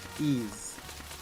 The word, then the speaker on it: Ys: collector set of everything do you pronounce it as yes or ease they say ease they actually say it